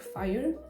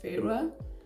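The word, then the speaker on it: Feyre: yeah and apparently um I was reading uh like the female lead's name wrong I'm reading it like fire but uh I ended up listening to a little bit of an audiobook and apparently her name is Farah like I was reading your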